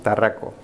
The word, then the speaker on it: Tarraco: Donc en espagnol, on prononce Tarraco, qui est donc le grand SUV, donc le petit, le moyen, le grand.